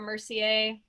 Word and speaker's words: Mercier: mercier um and i my last name is spelled like mercier the bike or laura mercier the makeup love it very much